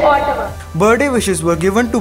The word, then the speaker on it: Ottawa: Today's word is Ottawa, which is the capital of Canada, and its correct pronunciation is Ottawa.